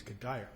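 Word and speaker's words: Cuddyer: I call it Kadire because there's an outfielder for the Minnesota Twins whose name is spelled that way, and he's Kadire.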